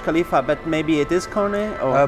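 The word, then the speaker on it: KONE: our main National partner K so many people pronounce it wrong Ki k whatever you could pronounce but it's pronounced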